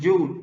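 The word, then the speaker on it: Joule: por el efecto de joe joe lynn se escribe con jota es un efecto que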